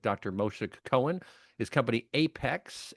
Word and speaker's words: Aiphex: His company Apex, it's spelled AIPHEX, has put together much of the technology and architecture for the solution.